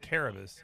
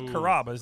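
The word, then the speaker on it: Carrabba's: it's the italian restaurant c-a-r-a-b-a how do you pronounce that they called it caravas and i'm like no no no it's carabas and they're like no it's not it's however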